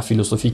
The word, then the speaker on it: philosophie: Donc, la philosophie qui s'écrit par un PH, donc on la prononce un F. C'est pour cela que dans sa transcription phonétique, nous allons trouver un F et ne pas le PH.